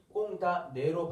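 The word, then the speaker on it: condamner: 여기 M이 발음이 안 돼요. 꽁다네로 발음이 연결돼요.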